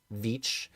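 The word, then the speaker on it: Veitch: Okay, let us continue to Swamp Thing by Rick I think you've taught me how to say this Vich and Doug Wheeler.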